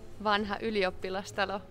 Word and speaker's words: Vanha Ylioppilastalo: The venue is really, really hard to pronounce. What's it called? Vanha Ylioppilastalo.